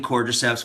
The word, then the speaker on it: Cordyceps: It's spelled C-O-R-D-Y-C-E-P-S.